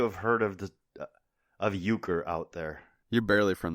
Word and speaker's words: euchre: europe perhaps perhaps germany i also would not pronounce that correctly if i just saw it written yes it's euchre we're good i don't